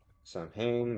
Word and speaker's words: Samhain: Samhain. Samhain Samhain is the name of the town is the Gaelic pronunciation of Samhain.